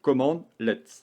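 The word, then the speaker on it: cmdlet: va utiliser ce qu'on appelle des command let prononcé command let ce sont des commandes intégrées ou personnalisé au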